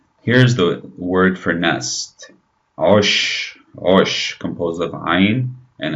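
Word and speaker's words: عش: Osh, osh, composed of ayn and a sh. Notice the sh sound at the end of the word, osh.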